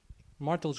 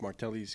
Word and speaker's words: Martelli's: Tell me more about Martel's kitchen. It's pronounced Martelli's Kitchen.